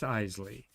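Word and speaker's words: Eisele: hi Hazel she said it's pronounced Eisley like The Isley Brothers the the great singing Duo so since she worked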